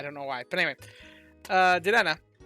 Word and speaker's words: Dedenne: annoyed by it, but I know it's technically Dedenne, but for some reason it just doesn't come out right for me. But anyway, my brain just thinks of it as Dedenne, I don't know why. But anyway, Dedenne.